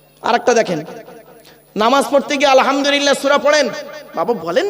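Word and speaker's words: الحمد لله: দেখেন নামাজ পড়তে গিয়ে আলহামদুলিল্লাহ সূরা পড়েন বাবা বলেন না একটু কথা বলুন না আলহামদুলিল্লাহি রাব্বিল আলামিন এই মা বোনেরা ভালো করে শুনে নিন আলহামদুক এ গলার ভেতর থেকে হে এটা উচ্চারণ করবেন আলহামদুলিল্লাহ এর মানে কি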